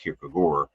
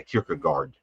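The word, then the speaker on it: Kierkegaard: been very influenced by Kirkugard whose name I think is probably more accurately pronounced Kirkugor. Uh but but I but I no I do think that's the correct way it's pronounced but but people say Kirkagard.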